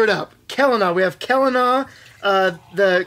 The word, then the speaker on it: Kelana: selena kalana helena yeah calendar hard c like celtic i i always screw it up kelana we have kelana uh